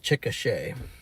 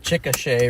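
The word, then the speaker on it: Chickasha: Chicochet and a and a good way to remember it is that Chicochet rhymes with ricochet.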